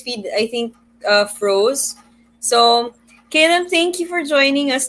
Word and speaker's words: Kalem: this is Kalem's bio. So, known for her artist name Kalem, and I'm pronouncing it correct this time, is a visual Yes, artist that's and correct.